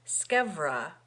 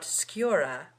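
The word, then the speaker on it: scevra: to tell you that the pronunciation of that word scra with a V and not skura with a u because it is a contraction of scava it remains to be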